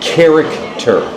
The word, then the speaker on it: character: So this is something like K. like character, Character.